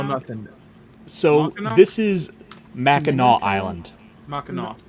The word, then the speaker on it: Mackinac: this is Mackinac Island. Mackinac. No, Mackinac would have a W at the end. Who put that? No. The C is silent.